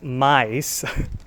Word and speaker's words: My-th: "Meet Kamen Rider Mice, pronounced Mice, a mysterious mouse rider who